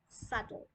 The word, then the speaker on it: subtle: It's not subtle, it's subtle.